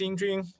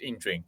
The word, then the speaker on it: Yingjun: everyone and um well my name is ining and I know that right is kind of like like uh challenging for some of guys to pronounce my name right for it's it's ining yeah so I'm a